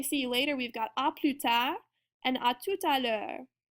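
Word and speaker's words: à plus tard: you later we've got oput and our s is silent as well as the D and then in atut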